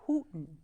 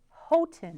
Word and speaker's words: Houghton: It's not pronounced Houghton. I do. It's Houghton.